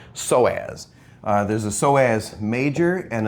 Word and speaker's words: psoas: and that's called the psoas. No, I'm just kidding, the P is silent. Psoas.